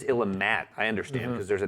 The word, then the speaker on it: Illimat: who did drill me on the pronunciation of the game because I had been saying Illimat for a long time. I really do like the idea. Because it's Illimat.